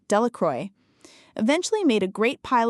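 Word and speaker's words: Delacroix: Bobby and Harry Jones and Dicky Delra, the villagers pronounced this name Delacroy, eventually made a great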